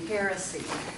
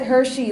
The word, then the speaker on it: heresy: at the stake because his how do you pronounce this anybody know this word a heresy okay the thing about this is it looks